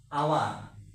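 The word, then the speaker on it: hour: যেমন আমরা উদাহরণ দিয়ে দেখি হাওয়া এখানে হাওয়ার হবে না এটার উচ্চারণ হবে হাওয়ার হাওয়ার উচ্চারণটা হাওয়ার হবে না এটা হবে আওয়ার সেজন্য এখানে এইচ এর উচ্চারণ হয়নি সেজন্য আমারের আগে এন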